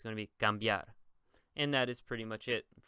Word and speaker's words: cambiar: It's not going to be cambiar. It's going to be cambiar.